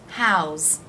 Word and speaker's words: how's: example how is house how's the S is pronounced as a Z sound house how's it going